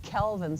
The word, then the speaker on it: Calvin: So the way to remember it for me is carbon dioxide has a hard C and Kelvin cycle has a hard C.